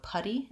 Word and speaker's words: putty: end potty potty party finally putty i have a schwa sound and this is similar to how i would pronounce the word buddy i just have an a sound and my d so putty and buddy have the same vowel that's the um the